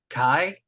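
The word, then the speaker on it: καί: there you go how would you say it Kai yeah Kai and it means and but also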